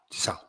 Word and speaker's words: Tso: Uh Susan sent me a message on who General Oh, that's how it's spelled. So TSA. Okay. I thought it was just TSO. General Taso. Tau.